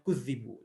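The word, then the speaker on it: كُذِّبُوا: Taib, ini makna pertama ketika qiraah yang digunakan adalah dengan tasdid pada zal. Jadi bacanya kudzibu.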